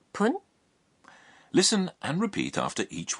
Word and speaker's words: 分: that when 10 is followed by F it's pronounced pun listen and repeat after each one 5 minutes